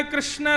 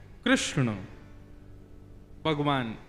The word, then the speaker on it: कृष्ण: कृष्ण लाल की बंधुओं कई लोग इस नाम को अशुद्ध बोलते हैं कई लोग कृष्ण बोलते हैं कई लोग कृष्ण बोलते हैं कोई कृष्णा बोलता है भगवान का नाम शुद्ध उच्चारण करो नाम क्या है कृष्ण भगवान जय श्री